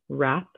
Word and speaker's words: wrap: word is the word wrap wrists wrote wreck ring right wreath so all of these have the silent w in the beginning next we have knit